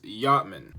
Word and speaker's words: Yachtman: His name is Yachman. Okay, it's spelled Yachtman because he is Jamaican.